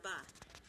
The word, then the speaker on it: va: The next one would be, ¿Cómo va?, how's it going? And the V in Spanish is always pronounced with a B. So it's ¿Cómo va?, how's it going?